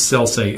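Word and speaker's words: Sellsay: But it's Selsay, S-E-L-L-S-A-Y.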